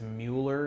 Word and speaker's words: Mueller: That is I believe it's Mueller is how it's pronounced.